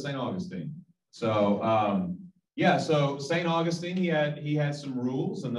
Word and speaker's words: Augustine: So St. Augustine, or some people pronounce it St. Augustine. Either way, we're going to take it because I don't want to argue about it.